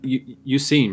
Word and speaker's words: Suicune: You can fucking elude you seen, right? That's how you say his name.